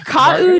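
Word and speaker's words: Kaʻū: Oh, pronounce that at all. That's Kau Giant Marago Gipe.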